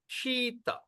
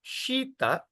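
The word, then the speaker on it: śīta: [laughter and clears throat] So S with apostrophe means what? We're going to pronounce like shampoo.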